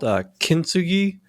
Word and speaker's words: Kintsugi: It's called Kintsugi, I believe is how it's pronounced, and it's gold repair is what it is.